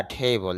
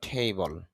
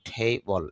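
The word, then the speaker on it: table: That is আ টেবল। যদি আমরা টেবিল বলে থাকি তবে ইংরেজি নিয়ম অনুযায়ী উচ্চারণটা হবে ঠেবল।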